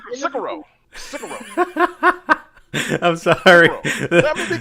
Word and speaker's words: Sekiro: Sekiro. I'm sorry. Let me be country, man. I don't care, man. Let me be country. All right. How you say it again? Sekiro.